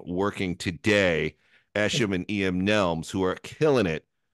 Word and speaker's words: Nelms: as it's gonna get all right and it's pronounced Nelms right yes all right all right everyone time